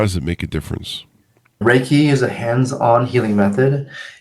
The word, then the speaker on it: Reiki: the audience that might not know what the Riki thing is am I pronouncing that right too it's pronounced raiki like a see that's why you're the professional